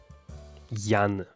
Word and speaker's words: Jan: What's my actual name? Yan with a G. I mean J.